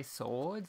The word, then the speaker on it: sword: swoosh or I mean the W in sword is silent you say sword so I guess it